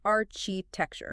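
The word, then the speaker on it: architecture: But in English words with chi derived from ancient Greek use a hard explosive k sound.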